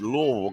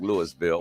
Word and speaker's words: Louisville: detroit number five is louisville kentucky and i did say louisville louisville they don't like lewisville or louisville it's low so you gotta say it